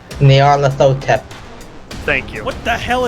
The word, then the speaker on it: Nyarlathotep: that that a thing whose name I can't pronounce Nyarlathotep thank you what the hell is that name